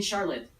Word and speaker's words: Charlotte: and face so I'm supposed to call you Charlotte is that how you say it yeah yes yes great Charlotte Charlotte Charlotte Oh